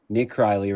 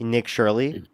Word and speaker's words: Nick Shirley: You you have somebody you have another young person like yourself, Nick Kryley, right? Goes out Nick Shirley. Nick Kryley. Oh, am I saying it wrong? Shirley, whatever.